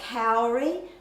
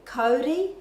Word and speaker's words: kauri: used words such as, people say kauri, that really should be kauri in the correct Māori pronunciation.